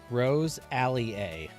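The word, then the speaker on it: Roselia: You guys have like 1,000 ways to pronounce this Pokemon. Rose Alley A. Rosalia. Not Lialia. Like, why can't they just come up with one way to say this Pokemon's name? Gosh. I prefer Rosalia.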